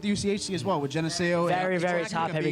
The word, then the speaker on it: Geneseo: I always say the name wrong. It's Geneseo.